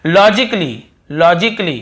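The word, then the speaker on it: logically: और देखिए फिजिकली, हम क्या पढ़ते हैं, फिजिकली, ये देखिए फिजिकली, तो यहां पर भी ए का उच्चारण नहीं हो रहा है। और देखिए लॉजिकली, यहां पर भी ए को हम नहीं पढ़ रहे हैं।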